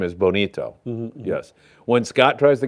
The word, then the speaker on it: bonito: all great stuff Omar why is it pronounced Bonita but spelled Bonito it should be pronounced Bonito but I don't know